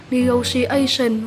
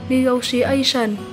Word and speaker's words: negotiation: Mình cũng xin đọc lại hai cách đọc của danh từ số 5 này là negotiation và negotiation. Chúng ta nhấn âm 4 nhé.